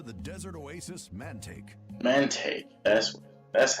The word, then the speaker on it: Mantaic: hello welcome to the desert oasis man take man Tate yes that's how you say it Matt what's